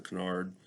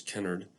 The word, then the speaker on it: Kennard: important today has been known as the canard probably better pronunciation is kennard principle we'll end our